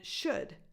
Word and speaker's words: should: C Sound could and should again just like shook but instead of a k at the end we have a D should would could should no